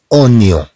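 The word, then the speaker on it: oignon: أونيون، أونيون، سي أنونيون. إذن طبعا هي تكتب وانيون ولكن تنطق اونيون.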